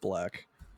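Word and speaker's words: 6LACK: It's 6 LACK. Okay. It's just pronounced Black.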